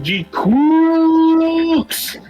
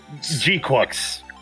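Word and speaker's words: GQuuuuuuX: How do you pronounce this? G Crooks? G-Quux. G-Quux, okay.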